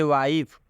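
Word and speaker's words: wife: और कॉन्सोनेंट के बाद से अंत में ई आया है, इसलिए इस आई का उच्चारण आई हो गया है। क्या हो गया है? आई हो गया है। जैसे वाइफ, वाइफ का मतलब होता है पत्नी।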